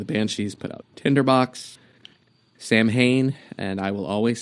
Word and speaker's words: Samhain: You were never saying it right to begin with, and then people are like, it's actually pronounced Samhain.